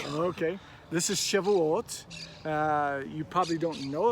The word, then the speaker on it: Shavuot: tell us what this is and how we pronounce it correctly okay this is chivalott uh you probably don't know it by that